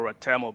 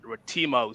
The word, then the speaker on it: Ratemo: uh it it varies the original pronunciation is rmo but a lot of people pronounce it rimo so either or works for me and uh thank you